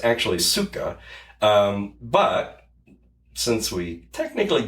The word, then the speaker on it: psyche: uh p s y c h e psyche which is actually not the pronunciation. It's actually suka.